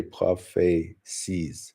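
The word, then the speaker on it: prophètes: pronunciation is wild so even though there's a t there they actually say propes propes and that's why it's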